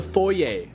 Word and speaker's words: foyer: Um, the foyer. Oh my god. A foyer. Like a a front foyer for a building. It's spelled F O Y E R. Foyer, but it's a foyer because it's French.